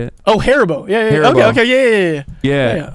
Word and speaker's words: Haribo: Like You said Karibo? Haribo? Like the Yu-Gi-Oh monster? Haribo. I don't know how to say it. Oh, Haribo.